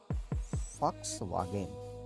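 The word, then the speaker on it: Volkswagen: वो V नहीं है, वो V = F because it इज a German word. In German V is pronounced as F। ठीक है। तो ये तो फॉक्स, क्या हो गया? फॉक्स। और ये वैगन नहीं है, ये है वागेन। तो सही प्रोनाउंसिएशन गाइस क्या है? फॉक्स वागेन।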